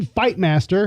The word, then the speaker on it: Fightmaster: can I just say he's actually pronouncing that correctly? Yeah, exactly. His girlfriend, Jacqueline Fightmaster, spelled exactly the way it sounds, was also arrested on disorderly intoxication.